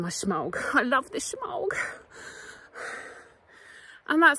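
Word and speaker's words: shemagh: I love this shemaug.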